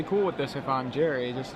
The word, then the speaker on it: Gery: Apparently it's pronounced Gery. Hard G, pronounced like Gary.